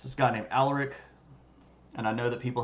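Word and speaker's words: Alaric: it's this guy named Aller and I know that people have a problem with pronouncing it all aleric but that's the way that it would be pronounced if that was a Roman word um and that's the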